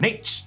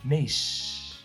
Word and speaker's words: Nach: how in this case, the word for stop has a hard as opposed to soft phonetic pronunciation at the end of the word. Nach as opposed to naish.